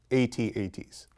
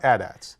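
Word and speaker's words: AT-AT: I've heard from people it is pronounced the snow Walkers are pronounced 8s not adats I know but I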